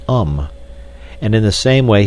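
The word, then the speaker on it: homme: bark he learned from darno that it was pronounced um and in the same way he was taught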